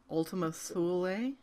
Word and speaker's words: Ultima Thule: rhymes with dually, Ultima Thule?